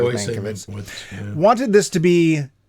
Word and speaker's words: Mankiewicz: Mankiewicz, or it probably is pronounced Mankiewicz, but I think it's always been pronounced here Mankiewicz, wanted this to be 2 movies, which together would run about 5.5 hours.